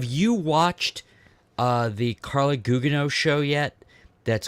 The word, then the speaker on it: Gugino: ] treasure have you watched uh the Carla Gugino show yet that's called what is that called what's that it's it's called good it's pronounced gujino is it really no she I don't think